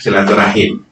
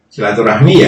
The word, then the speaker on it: silaturahim: sering mengucapkan searah Hai sebenarnya silaturahim Silah menyambung ke rahim yang ada hubungan rahim Jadi bukan surat-surat Walaupun demikian pelafalan seperti ini maksudnya adalah silaturahim bukan eh bukan yang lainnya jadi silaturahmi ya segera hitam Hai tidak